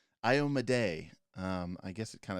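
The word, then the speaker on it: Iomedae: um uh ioma day ioma day apparently is how you actually pronounce that so you know we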